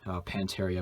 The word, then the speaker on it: Pantaria: the people on there i guess that's how i pronounce it i pronounce it panteria maybe you said it differently but the primary focus